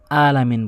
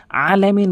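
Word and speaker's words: الْعَالَمِين: আলামিন মানে হচ্ছে উভয় জগত। আলামিন। আর আলম মানে আলামিন। এটার অর্থ ভিন্ন। আলামিনের অর্থ নয়। এটির অর্থ পরিবর্তন হয়ে যায়। এখানে আলামিন আইনটি ভর দিয়ে উচ্চারণ করবেন।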